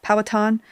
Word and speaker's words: Powhatan: Yeah, Powhatan. Sorry, I am still learning how to pronounce some of this.